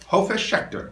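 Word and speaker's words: Hofesh Shechter: Hofish Schechter.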